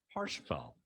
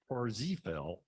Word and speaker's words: Parsifal: And that is Parsifal or Parsifal or Parzifal, depending, his name is spelled with different letters, and so spelling's different, pronunciation's different.